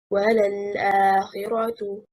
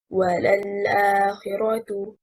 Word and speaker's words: وَلَلْآخِرَةُ: The correct performance, وَلَلْآخِرَةُ, and not وَلَلْآخِرَةُ.